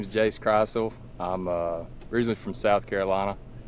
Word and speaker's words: Krisle: No, it's actually Krisle. Krisle, okay, gotcha.